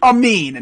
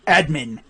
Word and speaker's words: Amin: and Philadelphia yes Roche his name is Adam Amin not admin I do bro he's